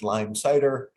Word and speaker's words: Leimsider: Really quickly about me, as you heard, my name is pronounced Leimsider.